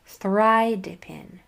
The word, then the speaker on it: thridipin: Thridipin. Notice I accented the I accented that first syllable. Thridipin.